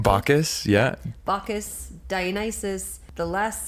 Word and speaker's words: Bacchus: Bacchus, yeah.